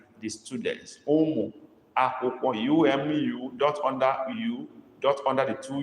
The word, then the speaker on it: akwụkwọ: Ụmụ akwụkwọ.